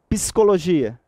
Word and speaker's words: Psicologia: Psicologia. Esse P, ele conta como um fonema. Tá legal? Mesmo não sendo acompanhado de um I. Mas você pronuncia.